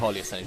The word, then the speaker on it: Paulius: Mike, can you pronounce this one? It's Paulius Kerneskis, I think. It's definitely Paulius.